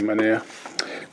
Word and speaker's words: Manaea: I think I should pronounce his name, Manaea.